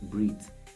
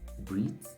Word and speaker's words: breathe: Okay, whichever eat, the one that rhymes with eat, E-A-T, okay, is the verb.